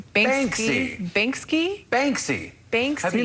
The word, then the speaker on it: Banksy: reminder of the need to pay attention when pronouncing difficult names trending this morning a work of art by bansky is am i saying his name right basically banksy banks have you not heard of banksy yeah